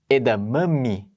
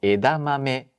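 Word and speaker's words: 枝豆: mesma letra só que no japonês as sílabas não tem esta variação na pronúncia certo Uhum em japonês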